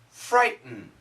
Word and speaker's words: frighten: However, in America, excuse me, we usually don't say frighten, we usually don't say threaten, we say frighten. Frighten. And that's a stop. It's called a glottal stop sound.